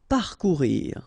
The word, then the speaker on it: parcourir: Parcourir. Okay, O and U together, ou, parcourir, parcourir. Rejeter.